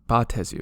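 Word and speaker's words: Baatezu: And strangely enough, Beatezu, I always used to pronounce Batezu, because to me that sounds better, but I'll just pronounce them Beatezu to match up with Baator. But apparently, according to the internet, Batezu is also an equally valid pronunciation.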